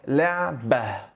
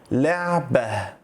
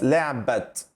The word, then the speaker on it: لعبة: When we pronounce it, it's pronounced as لعبة. لعبة. I do not pronounce it as a ta. I don't pronounce it as لعبت because this letter is ta. But while speaking, you do not pronounce the ta. We change it to ha sound.